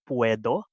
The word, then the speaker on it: Puedo: So we are Puedo, pronounced as Puedo, in the first person form of poder, which actually means to be able to.